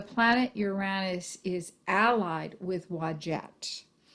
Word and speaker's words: Wadjet: uranus is allied with wajet that name is spelled w-a-d-j-e-t wagette is the cobra she